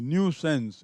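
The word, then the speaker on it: nuisance: ए एन सी ई न्यू सेंस इसका उच्चारण देखेंगे अलग है एन यू आई एस ए एन सी ई न्यू सेंस एक ऐसा काम जिसमें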